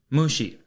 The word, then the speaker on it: mushi: Today's Lance's Lessons is going to be the Japanese word for insect, and that is mushi. Mushi is spelled M-U-S-H-I.